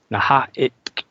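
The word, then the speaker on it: N'ha-a-itk: Naha'it. That's how they say it. Sounds like somebody's choking on a bone.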